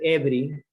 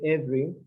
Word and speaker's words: every: a long time ago, we have in English some silent syllables. It means those syllables are not, they don't have any sound. Like we skip. For example, this one, every. We don't say every, say every.